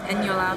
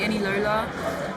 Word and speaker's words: Eniola: got into primary school, I always told people my name was Eniola. But really and truly it's pronounced Eniola, but people just couldn't pronounce it properly. There was a whole period of time where people called me Enilola, and that just wasn't it.